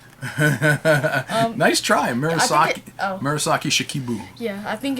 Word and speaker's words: Murasaki Shikibu: rope shizuku wait i'm going to try and pronounce this name marusaki shikibu nice try mirasaki murasaki shikibu yeah i think it's japanese yes and it